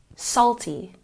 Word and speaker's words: salty: working on our pronunciation we put the stress on the first syllable salty salty once again salty